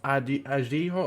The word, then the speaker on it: Araujo: pronounce his name incorrectly, I've had a look at some Spanish pronunciations, Portuguese pronunciations, and it's pronounced Araujo.